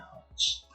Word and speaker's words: hertz: Oke, bacanya hertz.